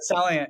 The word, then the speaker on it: Celliant: Celliant.